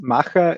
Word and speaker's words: Macher: The pronunciation is a bit, a bit different. It's Macher. It's like Macher, okay. the German word for doing, more or less.